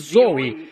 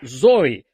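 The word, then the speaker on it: ζωή: de Deus vida eterna são pronunciadas zoi z o e zoi vida e a todos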